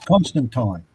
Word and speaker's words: Constantine: do you pronounce that you and he says constant time yeah that's all you pronounce it that's how i pronounce it i